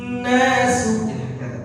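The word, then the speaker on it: الناس: Yauma idzin yasdurun nasu. Seperti itu. Baik. Nasu. Jadi pada kalimat sin yang berharokat dhammah bacanya harus tipis.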